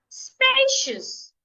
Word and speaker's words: spacious: Spacious. Spacious. An adjective. Two syllables. I'm stressing the first syllable.